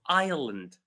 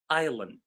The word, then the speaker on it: island: So this word is actually pronounced as island. Island. So the s is silent.